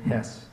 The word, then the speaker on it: Hess: him this year that my last name Hess like the gas station owners but without the money rhymes with more words than mess or okay so please welcome